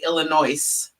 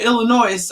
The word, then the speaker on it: Illinois: or people who say Illinois the S is silent and whenever I hear somebody say Illinois I'm like oh you